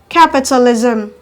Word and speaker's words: capitalism: syllable at the beginning now the end with suffix ism are stressed on the first syllable at the beginning examples are socialism socialism capitalism capitalism favoritism favoritism etc